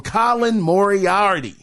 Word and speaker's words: Colin Moriarty: Now, late last week, reports came out specifically from Colin Moriarty, that's how you say his name, that Concord cost Sony $400 million.